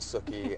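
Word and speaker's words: Sookie: talking about her name it's Suki as in cookie and so you know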